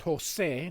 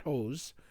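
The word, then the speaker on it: José: It's Jose, not Hose.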